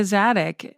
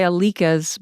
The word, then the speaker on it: Zadig: It's Alec Zadig. I think a lot of people say Alikas, but it's like Alakazam. It's like a magic spell, Alakazam.